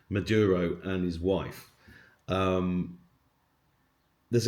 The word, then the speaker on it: Maduro: going in and getting Madura M I'm always saying his name wrong, please forgive me. Maduro and his wife.